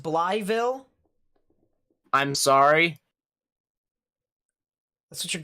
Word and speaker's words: Blytheville: like that at all it's pronounced bly ville i'm sorry that's what your grandpa says interesting okay interesting that doesn't make sense but okay so blytheville yep i will i